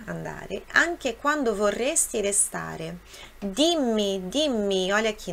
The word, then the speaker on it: dimmi: Dimmi, dimmi, olha aqui, nós temos dois M's, forte, som forte.